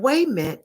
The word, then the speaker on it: Wayment: And Wayment, Wayment, we do not pronounce the T because the truth can be so ghetto that it takes your breath.